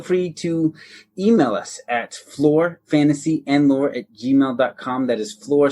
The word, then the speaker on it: Flore: you spell that Aaron that's lore with an F at the beginning so it sounds like floor but it's not the floor you're thinking because it's our floor we hope you enjoyed